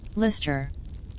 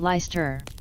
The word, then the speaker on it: Lyster: They, Lister. Lyster, Lycos corrects, pronouncing it Leister.